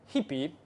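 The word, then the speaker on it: hpy: do you use guppy from you import hippie that's what what the documentation say to pronounce it so you import hippie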